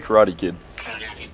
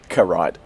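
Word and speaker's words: Carite: the pronunciation of that she definitely didn't say Karate Kid constructed karide okay karide cool cool cool nothing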